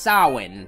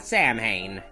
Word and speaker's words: Samhain: oh one more thing it's pronounced saw one not Samhain yeah I was depressed